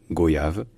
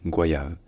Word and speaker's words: goyave: ce mot en français certains disent goyav d'autres disent goyave alors en fait à l'origine ce mot était directement tiré de l'espagnol et en espagnol ça se dit qu qua donc en fait ça se dit bien Gua au début et en